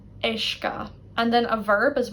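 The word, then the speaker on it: uisce: And then another word to show you, ishka, word for water. Ishka. Again, notice how it's the I really that's dominating here. Sim, ishka.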